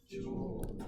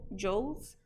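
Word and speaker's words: joule: international units for work how do you say this word Jewel Jewel because I used to say Jo Joes but then people tell me it's wrong so it's Jewels okay then uh force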